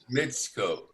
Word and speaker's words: Mitsuko: M-I-T-S Mitsuko.